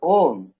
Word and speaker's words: ओम: ब्रह्म का स्वरूप है आ उ कर्मा तीन अक्षरों से ओम की उत्पत्ति होती है और ओम संपूर्ण अस्तित्व की ब्रह्मांड